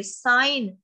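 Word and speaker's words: sign: साइन, साइन में जी साइलेंट है.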